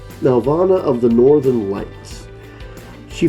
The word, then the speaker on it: Nelvana: I keep pronouncing this name wrong, but I believe it's Nelvana. Nelvana of the Northern Lights.